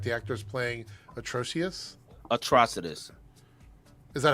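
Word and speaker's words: Atrocitus: Atrocidus. Is that how it's pronounced?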